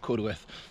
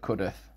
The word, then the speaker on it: Cudworth: But yeah, so it's Cudworth, it's not Cudworth.